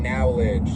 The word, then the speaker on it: knowledge: Today, as you may or may not have heard, we're going to be talking about research in knowledge. The K is silent, and that's for a reason.